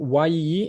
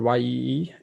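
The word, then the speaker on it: Yii: to laravel or symphony it actually should be pronounced y-i-i but for some reason i know it's pronounced ye usually um php php php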